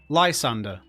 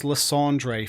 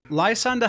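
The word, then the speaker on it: Lysandre: built around this guy Lysander whose name I pronounced as LeAndre for longer than I want to admit the story is quite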